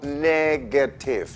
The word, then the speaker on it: negative: inglés en español se parecen mucho pero la pronunciación de esta palabra en inglés no es negativo sino negative negra tiene que tener mucho cuidado cuando las